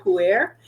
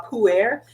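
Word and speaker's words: Pu'er: tea uh type that I have is called puer and I know it's you know Americans really aren't that familiar with it because it's spelled weird but it's pu apostrophe e RH so uh puer and the thing about puer is the Once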